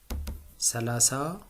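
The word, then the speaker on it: ሠላሳ: new tense number sorry D uh and it's pronounced This as salasa.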